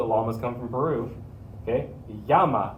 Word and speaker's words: llama: come from peru okay yama is how we say it in spanish so if you have a llama you could say i knew a girl named this in panama yama yama yamaya the double